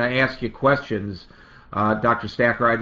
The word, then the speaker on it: Stacher: it works in their advantage this is joshua stotcher am i pronouncing your last name right uh doctor hacker st okay hacker i apologize joshua stacker uh but it's uh spelled s-t-a-c-h-e-r he's a